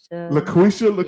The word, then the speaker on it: Laquitcha: Look, I don't want to say Laquitcha. Laquitcha. Yes. I'm gonna let her get on me about It's that. You know Laquitcha. when she pull up. You know what I'm saying? Yes. It's Laquitcha or I think it's Laquisha.